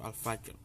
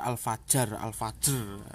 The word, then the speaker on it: Al-Fajr: Bacanya itu seperti itu, Al-Fajr. Namun di apa itu, dibaca Al-Fajr gitu, sama ilat Jawa gitu.